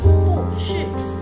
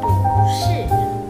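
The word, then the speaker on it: 不是: Jadi jangan dibaca pu nada 4, putue tidak benar. Jangan dibaca pu shi, putue tidak benar, tetapi menjadi pu shi.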